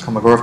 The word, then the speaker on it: Kolmogorov: I think the official way of pronouncing it is Kolmogorov complexity, and it's defined,